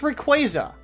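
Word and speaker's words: Rayquaza: fog for a quaza I've learned it's require like a quasar but anywho we got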